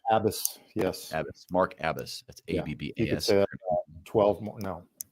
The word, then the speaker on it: Abbas: just early in this adventure right um it's abbis did I say abis I can't remember now if I mispronounced your name abis yes abis Mark abis that's ABB 12 more no but no thank